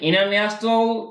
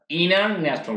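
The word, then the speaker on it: international: দুটোই কারেক্ট ঠিক আছে যেটা আমেরিকাতে এই উচ্চারণটা ইনার্যাশনাল বলে তাহলে আবার ইন্টারন্যাশনাল বলে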